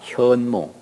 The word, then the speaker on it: 현몽: 현몽. 근데 우리 할머니는 옛날에 한문을 잘 모르셔서 선몽이라고 나한테 가르쳐 줬어요. 선몽했다고. 근데 알고 보니까 그건 발음은 잘못된 거더라고요. 내용은 맞는 거고. 현몽이에요. 현몽.